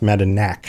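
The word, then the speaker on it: Madanach: Aryadel says it's pronounced Madinach.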